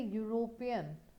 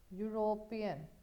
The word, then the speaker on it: European: So I'll use an honorable, but when I say European, European, it is U, it is Y.